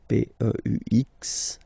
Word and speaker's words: peux: P-E-U-X, okay, you don't pronounce the final x.